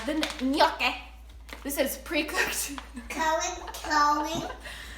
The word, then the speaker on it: gnocchi: Cody. That's how it's pronounced.